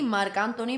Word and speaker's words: Marc Anthony: together it's mark yeah it's marc anthony spanish and so it has to be marcantoni because and spanish would be spelled differently because it's pronounced differently yeah double identity up